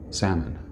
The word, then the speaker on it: salmon: what other words like some people said salmon where's that L where did that come from how about pneumonia there's